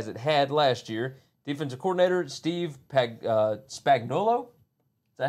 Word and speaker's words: Steve Spagnuolo: Defensive coordinator, Steve Spagnuolo. Is that how you say it? Yes, Steve Spagnuolo.